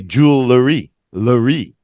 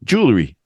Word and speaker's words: jewelry: I even hear some people say jewelry Larry like there's another letter in between the L and they are jewelry I hear that a lot too yeah let's just cut it down to two syllables and not three because everybody's gonna understand what you say when you used to when you say this jewelry jewelry jewelry and that's a lot